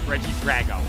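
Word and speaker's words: Regidrago: ra or Drago sorry I learned how to pronounce that Pokemon this weekend Reggie Drago not Drago it's not a dragon it's a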